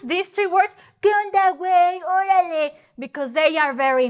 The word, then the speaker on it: güey: but yes is right the two dots on top of the U that is telling you you have to pronounce the U right on top of